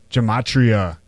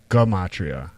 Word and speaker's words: gematria: numerology yeah that's right we're talking about gematria or gum Maitreya however you want to say it that's one of the pronunciations yes yeah someone says